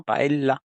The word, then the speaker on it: paella: ejemplo o algo así no pronuncian como una e como una l con una pequeña pausa no paella sí o paea en el mejor de los casos con una I sí efectivamente no podemos hablar